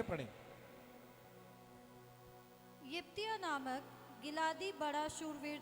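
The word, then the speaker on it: Jephthah: यिप्तिया, यिप्तिया, यस। और English में जिफ्ता है, या जिफ्ता भी बोल सकते हैं, जिफ्तिया भी बोल सकते हैं आप, तो अलग अलग प्रोनाउंसिएशन है।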